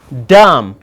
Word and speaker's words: dumb: when the word or when the letter b comes after m this b is what's silenced you see guys you can say calm you can say look dumb you see guys you